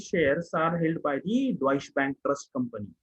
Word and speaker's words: Deutsche Bank: So for example, if you see the Deutsche Bank, the pronunciation of this is Deutsche Bank.